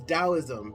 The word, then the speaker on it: Taoism: what i'm hearing is taoism taoism taoism that's how it's pronounced and it's about letting